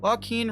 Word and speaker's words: Joaquin: how do you say his name uh uh pronunciation oh no Joaquin is right Joaquin Phoenix Joaquin Phoenix where is